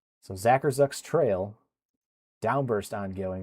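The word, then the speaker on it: Zackarczuk: And I remember someone pointed out that the C is silent. So it's Zacherz. So Zacher Zuck's trail downburst ongoing right now in Elier County.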